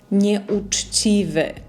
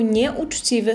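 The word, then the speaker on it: nieuczciwy: Ви бачите, що всередині в нас є літера Ч і є пом'якшене ц, тобто ч і чі. Неучіви. Неучіве. Е, це такий гарний приклад, щоби навчитися правильно вимовляти пом'якшену польську це і також тверду ч.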